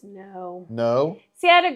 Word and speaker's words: Noe: Taxman says it's pronounced no no see I had a girl that worked for me and her last name was no OE and it was Noe so wait didn't I